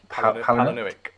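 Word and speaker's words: Palahniuk: I read as well that um uh when Chuck, how do I pronounce his surname? Halanick. Helenick.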